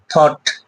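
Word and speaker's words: thought: টা সাইলেন্ট থেকে যায় যেরকম টি এইচ ও ইউ জি এস টি থট ও ইউ জিএস একসঙ্গে আছে বাট জিএস টা কি আছে এখানে সাইলেন্ট আছে যেরকম আমরা আরো এক্সাম্পল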